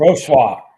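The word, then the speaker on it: Wrocław: Roarclaw. Roarclaw. Coach, how do you pronounce it? How do you How do you pronounce it? Rosla.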